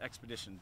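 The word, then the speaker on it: Expedición: Yeah, so it was, it's called Expedicion de las Americas with a C in Spanish pronunciation.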